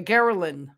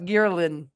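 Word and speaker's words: ghrelin: those food fullness hormones the geralin I think is how it's pronounced and pretty sometimes girin uh which I believe is the hormone that indicates whether you're fool or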